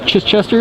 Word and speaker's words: Chichester: And that's Chichester, is that how you pronounce it? Chichester Harbour.